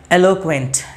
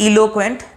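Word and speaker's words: eloquent: ट्राई to pronounce it, एलोक्वेंट। इट्स नॉट इलोक्वेंट, इट्स एलोक्वेंट। जैसे ई से इलीफेंट नहीं होता, वैसे ही ई से इलीक्वेंट नहीं है, इट्स एलोक्वेंट। सही प्रोनाउंसिएशन करिए, एलोक्वेंट।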